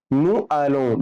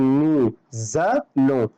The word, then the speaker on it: nous allons: فبالتالي لو انا قلت نو الون لا غلط، لازم اقول نو زالون، نو زالون، نو زالون، نو زالون نحن نذهب.